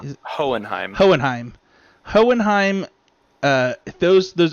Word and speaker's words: Hohenheim: yodan how do you say his name is hohenheim hohenheim hohenheim uh those those episodes where you